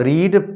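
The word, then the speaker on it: read: form भी होती है पढ़ा केवल जाता है रीड रेड रेड तो यहां पर रेड पढ़ा जाएगा स्पेलिंग वही रहेगी तो वई हैव यू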